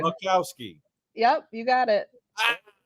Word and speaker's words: Boczkowski: one, the only Boczkowski. Hey guys, you did good. The Z is silent though, but otherwise you did pretty good. Much better than I've heard. Boczkowski.